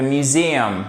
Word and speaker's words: museum: Comment puis-je aller to the museum? Museum. Et voyez ici, vous avez une apostrophe, ça signifie que le Z, c'est celui qui est porteur de l'accent tonique.